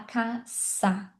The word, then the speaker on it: casa: Suele se pronuncia normal, mas quando a gente vai falar casa, casa em português é como se fosse um Z, ó, casa. Mas em espanhol a gente fala caça.